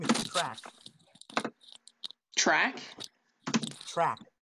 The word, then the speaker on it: Trak: Her name is Track. Track? Track. Like a racetrack. No, just a track, like TRAK, not a CK. Yeah, track. Like track. Pronounced track. Track. Tech, but with an R.